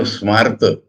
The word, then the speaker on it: Smarta: Now Smarta, the pronunciation is similar to an English word. Smart.